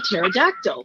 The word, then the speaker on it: pterodactyl: A pterodactyl. Okay, why can't you hear a pterodactyl going to the restroom? Why can't you hear a pterodactyl going to the bathroom? I don't know. Because the P is silent.